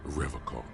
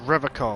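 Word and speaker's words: Revachol: i can't even pronounce the name right he pronounces rivercock with a hard k unlike other people you said rivercon i like to pronounce it the hard way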